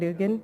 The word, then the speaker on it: Urgyen: Urgyen, and I pronounced it correctly, right, Urgyen? He showed me how. Told me how.